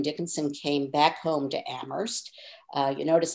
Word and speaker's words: Amherst: came back home to amherst uh you notice i'm not using the h that's that's the way that locals pronounce it looks like it's it's